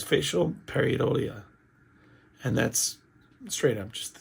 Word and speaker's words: pareidolia: I even went to Google, and you know how you go, Google pronounce this for me so that I can know how to say this. And it was facial pareidolia.